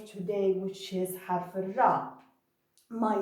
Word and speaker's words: ر: Now let's go to the second letter today, which is harf ra.